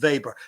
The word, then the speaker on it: Weber: And Weber electrodynamics, introduced by Wilhelm Weber, to give everything its German pronunciation, was roughly contemporaneous with the work of Maxwell.